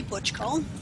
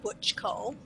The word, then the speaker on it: Bucsko: my name is butch kool pronounced like Butch Cassidy butch Cole I live in Sarnia